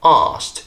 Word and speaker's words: asked: is to drop that c and just say asked instead as an example in my last video